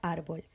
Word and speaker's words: árbol: Consideramos la palabra árbol. Buscamos el acento tónico que está en la A y dividimos en sílabas. Vemos que el acento tónico está en la penúltima sílaba, entonces la palabra es llana y dado que termina en L, lleva tilde.